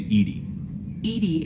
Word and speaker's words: EDI: why are you named edie is the phonetic pronunciation of edi that is an acronym